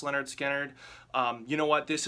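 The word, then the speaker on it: Lynyrd Skynyrd: Leonard Skinner this is the album pronounced Leonard Skynyrd um you know what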